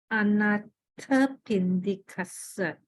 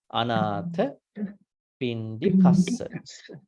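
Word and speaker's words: Anāthapiṇḍikassa: I just want to check the pronunciation of Anathapindikasa. Is that correct? Can you repeat again? Anathapindikasa.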